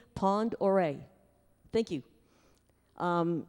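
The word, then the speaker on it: Pend Oreille: Orel it's um huh pardon how was it pronounced P pandere okay thank you Pond oh Pond okay P and D Pond oray thank you um it's the base and actually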